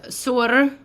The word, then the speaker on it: Suor: So, Snow Raven, also known as Sur, I tried to say it right.